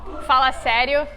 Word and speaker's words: fala sério: Fala sério.